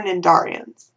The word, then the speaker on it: Cnidaria: Next is our Cnidarians. The C is silent.